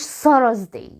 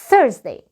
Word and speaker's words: Thursday: اليوم اللي بعد كده الخميس، ما اسمهوش Thursday. اكيد ما اسمهوش Thursday. التي اتش في الانجليش بننطقها ث، لسانك ث ث. Thursday.